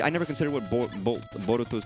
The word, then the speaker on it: Boruto: never considered what Bol Boruto's name actually was. It's like what sounds like Naruto Naruto. Boruto.